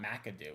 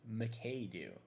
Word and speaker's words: Madu: It's not Madoo. It's Madu.